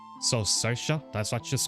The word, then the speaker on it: Saoirse: It's pronounced Saoirse. It's an Irish name which I'd never guess, and I never guess how it's pronounced. So Saoirse, that's what she's called.